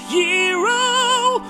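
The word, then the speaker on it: Gyro: going to get a jro although it's technically pronounced hero although I still want to call it a gyo cuz it sounds cooler stomach dude you going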